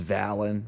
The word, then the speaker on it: Svalinn: new hero skin and I guess it's Vallon with a silent s and you got an